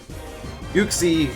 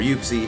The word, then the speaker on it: Uxie: it gets hit it doesn't really like that Uxie or Yuki however you want to pronounce it it's slower it's bulkier and doesn't